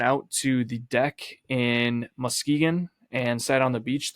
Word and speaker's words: Muskegon: It's Muskegon. How was I saying it? You're saying Muskegon. It's not Muskegon. It's Muskegon. I mean, it's spelled Musk-Egan. Yeah, but you're putting so much emphasis on that K and the U. It's annoying.